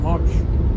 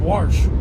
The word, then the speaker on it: Warsh: By the way, welcome to the big leagues, Kevin Marsh. Kevin Warsh. See, he's not even a known guy now. We got his name wrong.